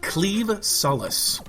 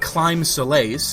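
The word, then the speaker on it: Claimh Solais: a very strange pronunciation the word that is spelled c l a i MH is actually pronounced cleave kind of like a sword cleaving things which is kind of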